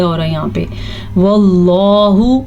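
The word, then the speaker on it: والله: واللہ، اللہ کا نام پر پڑھنا ہے.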